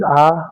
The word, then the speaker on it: hour: Here h is silent, so it is hour hour.